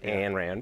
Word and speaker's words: Ayn Rand: Let's start with her name, because a lot of people mispronounce Ayn, and it's always Ayn Rand, but that's all right.